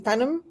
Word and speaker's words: Thanam: of us I think and my name is Tanum Tanum is pronounced Tanum I am a past president of the